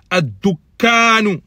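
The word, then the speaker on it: الدكان: Si on enlève le alif lam, il se prononce dukkanun. La shedda, elle est que sur le kaf. Mais quand on fait entrer alif lam, il y a deux shedda qui se suivent. Ad-dukkanu, donc bien prononcé.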